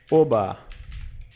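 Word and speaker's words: Herr Ober: comum aqui ou chamá-lo Hair obá obá tá você pronuncia assim arrear arrear o bar a roubar as letras e r no alemão são pronunciadas como um carioca pronuncia a palavra ara a O bar O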